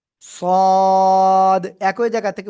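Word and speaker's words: ص: সদ একই জায়গা থেকে উচ্চারণ হবে একটু মোটা আওয়াজে মুখের ভিতরে বাতাস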